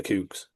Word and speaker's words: The Kooks: They literally sing their name in one of their songs, and it's the Kooks. The Cukes. Cokes. Cooks.